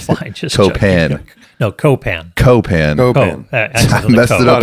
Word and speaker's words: Copan: Yeah, it's Copan. Accent on the first syllable.